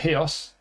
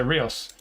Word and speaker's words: Ríos: For some reason, commentators always pronounce it Hios, but according to Ballad, it's Rios, so I'm going to say Rios.